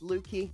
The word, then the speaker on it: Lukey: Lukey, pronounced Lukie, not Lucky.